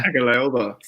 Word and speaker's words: Tagovailoa: I tried to pronounce his last name. Tagovailoa, right?